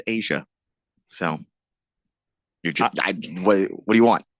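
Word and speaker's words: A'ja: I want to call her Aja. Well, or Aha. It's pronounced Asia.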